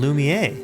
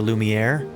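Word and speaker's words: Lumière: I never know whether I should pronounce it Lumier or Lumiere. I think both pronunciations would be considered depending on where you're at to be appropriate. I think the French probably pronounce it Lumier. Correct. And then um Lumiere would be more of a other European sort of English pronunciation that's kind of just accepted.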